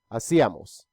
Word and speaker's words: hacíamos: Notice that all of them have an accent on the letter I. Íamos. Hacíamos. Vosotros, the ending is íais.